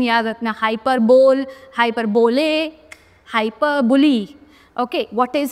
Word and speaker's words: hyperbole: Next, hyperbole. Hyperbole, पहले इसका pronunciation याद रखना, hyperbole, hyperbole, hyperbole.